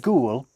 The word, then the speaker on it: ghoul: The word ghoul has a silent H in it.